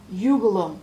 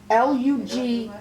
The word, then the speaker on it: Lugulum: And now Ugulum. It's Lugulum. Hold on, let me take my Nora.